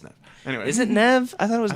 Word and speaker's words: Neve: Anyway, Is it Nev? I thought it was Neve.